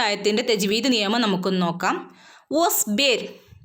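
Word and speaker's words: واصبر: വസ്ബിർ, ഇവിടെ വാവിൻ്റെ ഉച്ചാരണം നമ്മൾ പറഞ്ഞതാണ്. ചുണ്ടിനെ സർക്കിളാക്കി പിടിച്ചിട്ട് വേണം വാ ഉച്ചരിക്കാൻ.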